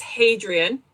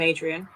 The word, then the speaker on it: Hadrian: So his name is Hadrian, except I'm from Yorkshire, so we don't pronounce H's, so I call him Adrian.